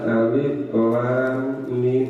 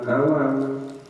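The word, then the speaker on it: الم: lam dan mim mim Kenapa bacanya Alif Lam Mim bukan awal karena ini ya apalagi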